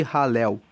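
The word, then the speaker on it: Hallel: Depois, você encontra uma outra coleção, do Salmo 113 até o Salmo 118, nós temos os chamados Salmos de Halel. Halel se escreve H-A-L-L-E-L e Halel significa louvor ao Senhor.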